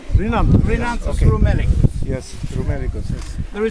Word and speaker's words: Rhinanthus: Hay rattle, Rhinanthus. Rhinanthus.